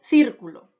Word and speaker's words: círculo: en los siguientes ejemplos tengo la palabra círculo cierto el acento ahí lo tiene en la antepenúltima sílaba andante penúltima sílaba entonces por lo tanto sería una palabra esdrújula y como tiene la mayor fuerza de voz en antepenúltima sílaba se lee círculo que hay en el